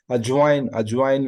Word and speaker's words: ajwain: Ajwain we call it in Hindi.